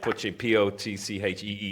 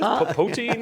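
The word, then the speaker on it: poitín: Our distributor, who thankfully who agreed to distribute us, they they couldn't pronounce it. We had to phonetically write Potcheen on the bottle, right? Because Americans like, what is it? Poteen, yeah.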